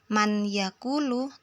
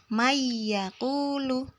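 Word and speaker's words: من يقول: masuk ke huruf ya jadi membacanya bukan Man yaquulu tapi mayakulu situ ada nun sukun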